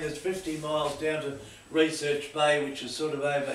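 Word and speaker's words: Recherche Bay: The usual routine is 50 miles down to Research Bay, which is sort of over here.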